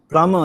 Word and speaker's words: plumber: Plumber, yes. Okay, with a silent B, a plumber.